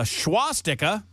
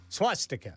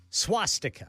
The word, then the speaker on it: swastika: A Beaver County family filed a lawsuit when they found a schwastika. Do I pronounce that word correctly, Ken? Swastika. Swast. There's no H there. There's no H. So swastika.